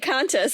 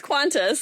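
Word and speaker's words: Qantas: I always want to pronounce it kis and it's not. It's quantis and sort of like Arabic doesn't have the like Arabic transliteration.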